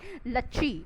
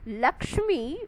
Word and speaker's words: Lakshmi: progress you have got the words like Lachie instead of the word Lakshmi with the correct pronunciation they have the I